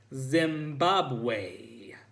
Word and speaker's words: Zimbabwe: How do you pronounce that last country? I asked. The one that starts with a Z. Zimbabwe, she said, sounding it out like it was 3 words.